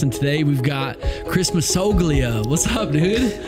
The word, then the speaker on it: Massoglia: It's Massoglia. It's Italian. Dude, I was doing Massoglia, like a lot of people like do that.